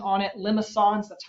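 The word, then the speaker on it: limaçon: little kind of weird fringe accent on it limisons that's how you pronounce it but r equals a some number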